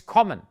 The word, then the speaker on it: kommen: When you have a double consonant, Essen or kommen, which means to come, then the vowel before that is short. It's not kommen, it's kommen.